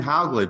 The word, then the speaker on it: Hauglid: that all right sure all right M haugley by the way I am pronouncing that correctly yes yes okay is an